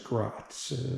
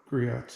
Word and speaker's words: Griot's: Correction on the Best to Show, that was Grot's, not Griot's if I mispronounced.